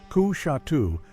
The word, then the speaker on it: Coushatta: Coushatta, pronounced Ku-Shatu, possibly means white cane in Muskogean.